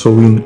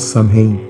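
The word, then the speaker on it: Samhain: old Celtic Festival known as Sam hey that's pronounced soin actually and not Sam Hain is a pagan religious feast held from the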